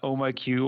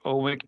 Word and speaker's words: OhmIQ: So, I I run Ohm IQ or Ohmik, depending on how people want to pronounce it.